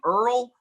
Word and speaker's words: Url: up with his name we named him earl but it's spelled url that's good that's my son that's my son right there you said it he's 17.